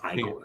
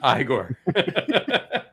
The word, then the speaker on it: Igor: Oh, you must be Igor. No, it's Igor. Igor.